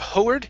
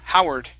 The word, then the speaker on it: Howard: here is the name instead of hoeward this is how howard howard good good all right